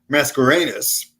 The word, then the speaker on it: Mascarenas: The good news, I had a great lunch today with, I have to look at my notes here, with Vinny Mascarenas. Did I pronounce that right, Carmine? Yes.